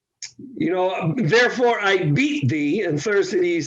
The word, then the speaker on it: Thersites: Thersites, is that how you pronounce it?